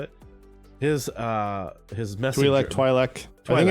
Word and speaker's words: Twi'lek: But we get one guy, the mayor's lackey, Twi'lek, right? Yeah, that's how you say it. His messenger. Twi'lek.